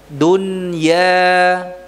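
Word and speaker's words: الدنيا: Ya-nya murni, tidak ada dengungnya. Nya, la. Bukan nya, tapi apa? Ya, dunya. Ad-dunya.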